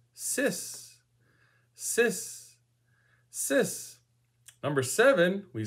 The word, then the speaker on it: six: Six is sis.